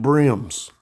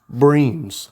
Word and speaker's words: bream: A bunch of brims. Breams. They say that's how you actually pronounce it, is bream. I've always said a brim.